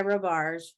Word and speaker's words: Robarge: or marge um i i usually go by robarge robarge okay so she i mean you talk